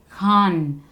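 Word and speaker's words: ख़ान: English में के H, English में जब स्पेलिंग में के एच का प्रयोग होता है तो ख का प्रयोग वहाँ पर किया जाता है। जैसे खान, ख, खान। अख्तर, अख्तर नहीं है ये, अख्तर।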